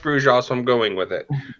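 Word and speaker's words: Brujah: If you ask the Bruja, I'll use the proper pronunciation because that's how it's pronounced in this time period. That's what I keep saying, but nobody. In this time period, it was pronounced Bruja, so I'm going with it.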